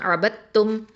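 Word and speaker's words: عَبَدتُّم: சரி, இப்போ வந்து இதில் பார்த்தீங்க அப்படின்னு சொன்னால் அபத்தும் அப்படின்னு தான் இதை நம்ம வந்து உச்சரிக்கணும். அதாவது இதில் வந்து சுக்குன் பெற்ற தாலு அது வந்து நமக்கு கண்ணுக்கு தெரியாது.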